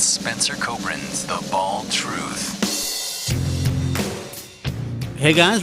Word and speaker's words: Kobren: It's not Coburn, it's Kobren, but I chose not to correct him during the ID because I thought it was funny.